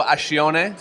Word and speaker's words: Ascione: I'm here with Ascione. Did I pronounce that correctly?